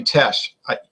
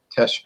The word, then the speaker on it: Teche: I noticed you were saying tech, but it's actually Tech. I wasn't sure. You know, it doesn't say how to pronounce that. That could be trendy. You know. Well, anytime you see the CH with an E after it, it's like a SH. Yeah. Tesh.